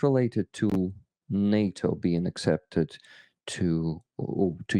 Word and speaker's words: NATO: fito uh but I think it's related to Nato being accepted to to to Ukraine yeah that's